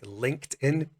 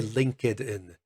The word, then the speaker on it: LinkedIn: have heard of the website linkedin we do not say link it in so the end of